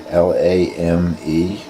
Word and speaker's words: lame: Anyway, this particular little instrument here is a French thing called a lame, L-A-M-E. No accent on the last E, so I'm guessing lame is the pronunciation.